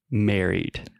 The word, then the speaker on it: married: So the I directly after the two R's, we don't really pronounce that. So marriage. Marriage. Perfect. Okay. Marriage. Marriage. And the same thing with married.